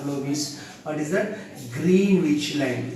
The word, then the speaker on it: Greenwich: Greenwich line. GREEN, green, WICH, Greenwich, or Greenwich also correct only pronunciation.